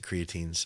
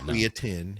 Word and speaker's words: creatine: any of the fancy creatines or creatin. Have you heard people pronounce it creatin? You know, I think it depends where you go. You know, I think it differs from state to state.